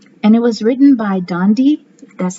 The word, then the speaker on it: Dandi: of christmas giving and it was written by dondy that's how you pronounce her name daley mccall and illustrated by